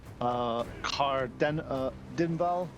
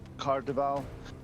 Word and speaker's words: Caer-Dineval: Looking to the east, you see a signpost that is clearly marked Car Dinval. If you guys want to know how that's spelled, it's CAER-DINEVAL.